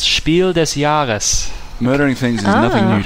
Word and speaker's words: Spiel des Jahres: Yeah, Concept was a Spiel des Jahres nomination. I think I pronounced that incorrectly. That is horrible pronunciation, thank you. You're welcome. It's, okay, just for prosperity of the title, it's Spiel des Jahres.